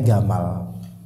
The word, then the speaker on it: Jamal: nyaman semua ya maka dialek Yaman itu Jim dibaca Afwan bisa Yaman atau Mesir ya makanya Jamal Abdul Nasir biasa disebut Gamal Gamal itu artinya Jamal bukan khamar tapi Jamal dibacanya Gamal maka jadilah bahagia